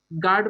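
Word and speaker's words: guard: गार्ड में देखिए यहाँ पे यू साइलेंट है, बिस्किट में भी यहाँ पे यू साइलेंट है, गेस्ट में भी यू साइलेंट है।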